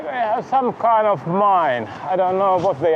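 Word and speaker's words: 美祢: There is a mine in a city of Mine, which is, if you pronounce it English way, it's a mine, and it's written exactly the same, but it's Mine in Japanese.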